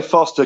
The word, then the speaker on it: Forster: I say Foster because there's a place in Australia that's spelt the same way, but it's pronounced Foster for some pretty bad beer too.